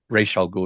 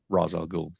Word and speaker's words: Ra's al Ghul: Ra's al Ghul, it's the way it's pronounced, not Ra's al Ghul.